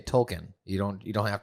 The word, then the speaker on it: Tolkien: of the token the tolkien the token black family if you say it correctly you can say token you don't you don't